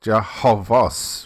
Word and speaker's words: Jehovah's: the end of it, the pronunciation of the word Jehovah is extended or adapts to this addition and should properly be pronounced as Jehovah's, phonetically as Jah, not Ha, Vos.